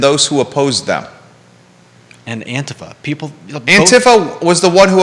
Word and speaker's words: Antifa: Antifa? How do you say it? Do you know? I call it Antifa. It's Antifa. Antifa? Okay. Because it's anti-fascist.